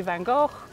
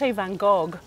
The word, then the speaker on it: Van Gogh: good question bing bing British I say Van Gogh the French Van Gogh with a hard G the the Dutch and